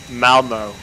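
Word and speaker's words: Malmö: And how would I pronounce that if I'm not from that country? Malmo.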